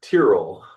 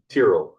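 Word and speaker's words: Tyrrell: Yes, my last name is Tier, which has kind of been a bit of a challenge for many to pronounce.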